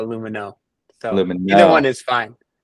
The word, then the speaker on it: Lumineux: in and um the brand on Amazon is pronounced lumu or lumino what would you say proper pronunciation here so people don't butcher you so if you're in France it's Lumin but normally we just call it lumino so either one is fine Lumin X is